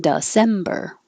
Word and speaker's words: December: it's just ah august the d e sounds like duh because it's not stressed december december autumn autumn apple